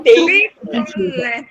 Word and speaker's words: picolé: É um Picolé. a gente vende a palavra. Picolé, vou vender o picolé. Picolé! Ah, é o Lé. Lé. A gente segura na sílaba forte.